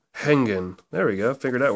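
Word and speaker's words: hängen: is I think uh that's hongan or hangan I'm not quite sure that letter there if you don't know you go over to the pronunciation guide and you look at it similar to a German e or an English e e e so it's e e hangan hangan there we go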